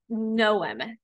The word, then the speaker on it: Knowem: One of them is called Knowem, and that is spelled K-N as in never, O-W-E-M as in mom.